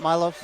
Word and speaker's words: Milos: Is it Milos? Yep. Okay. I keep hearing the announcer say it wrong, so I just, Hey, always blame it on that guy.